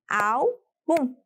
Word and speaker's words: álbum: Álbum. Nossa, só tem 2 sílabas. Bom, álbum está destacada. Portanto, você já sabe qual é a sílaba tônica. Será au, pois tem um acento agudo.